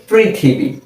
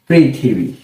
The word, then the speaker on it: পৃথিবী: পৃথিবী লিখার জন্য এই আমরা লিখলাম একটি প লিখার পর এর নিচে যদি একটি ঋকার দিয়ে দেই তাহলে এর উচ্চারণ হবে কি? পিকার প্রি এরপর যদি আমরা থ লিখে একটি রশিকার দিয়ে দেই তাহলে হবে কি? প্রিথি কিভাবে হল? পরকার প্রি থ রশিকার থি পৃথি এরপর ব লিখে একটি